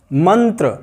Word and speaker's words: मंत्र: त का पंचम वर्ण, त वर्ग का पंचम वर्ण वही इसका, अर्थात न, ये इसका उच्चारण मंत्र, इसलिए हम मंत्र बोलते हैं, मंत्र नहीं बोलते, मंत्र नहीं है, मंत्र है।